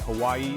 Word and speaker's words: Hawaii: sound like you're riding a wave of perfect pronunciation and speaking of unique and wonderful things did you know that Hawaii is the only US state that grows coffee